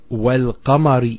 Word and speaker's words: وَالْقَمَرِ: So you notice the lam here has a sukun on it. Now the mushaf, when the lam is not pronounced, it doesn't have any sign on it. It's written, but there's no sukun.